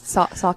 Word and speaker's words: Saucony: Is that how you say it? Is that the shoe? Is it Saucony? Yes, Saucony.